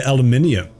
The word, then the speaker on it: aluminium: We actually we pronounce the full word. You guys just drop some letters for the meme. What do you say? Aluminum. Aluminium. I say aluminum. I say aluminium. Aluminum. There's eyes in there you're missing out.